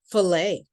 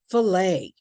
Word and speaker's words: fillet: in the American English, the following letters are silent. We just don't say them. For example, fillet. You can repeat after me. Fillet.